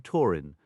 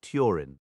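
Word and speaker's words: Túrin: The accented U in names like Hurin, Turin, and Tuna is pronounced U, yielding Torin, not Turin.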